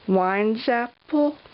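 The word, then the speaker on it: Weinzapfel: with her last name I think it's like wine zapple but you know what I I call it in my head this is the only way I can like halfway remember how to pronounce her last name and I think of it as wines half full like my wine glass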